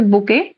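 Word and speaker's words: bouquet: collective noun ঠিক আছে বোকেট of flower বোকে উচ্চারণটা হচ্ছে বোকে বোকে of flower dozen of এগঞ্চ of grapes of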